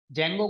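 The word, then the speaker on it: Django: जेंगो को pronounce जेंगो करते हैं, लेकिन स्पेलिंग में डी साइलेंट है, पहले आता है।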